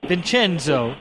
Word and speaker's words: Vincenzo: But his name is Vincenzo. Is that pronounced your name?